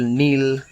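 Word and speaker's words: kneel: এছাড়া কে এন ও ডবউ নো কে N double E এল নীল মানে হাঁটু গেড়ে বসা ইত্যাদি এইসব জিনিসগুলোর ক্ষেত্রে কিন্তু দেখো কে আছে কিন্তু উচ্চারণের সময় নেই ঠিক তেমনভাবে আমরা জানবো সাইলেন্ট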